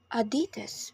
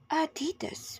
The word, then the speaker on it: Adidas: about Adidas Americans say Adidas with stress in the second syllable while in the UK it's pronounced Adidas with a stress in the first syllable next car lovers this